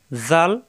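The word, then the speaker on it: ذال: এই যে কায়দায় থাকবে এরকম, উপরে এক নক্তা, জাল, নরম করে উচ্চারণ, জাল।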